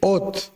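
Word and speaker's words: אות: el idioma hebreo y se pronuncia fonéticamente OT.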